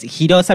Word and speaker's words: Girosa: Girosa, ¿así se pronuncia o Girosa? Mi nombre es Girosa, mi nombre drag es Girosa, quien ven, pero bueno, todos ustedes me conocen como la Queen de Fuerte Apache.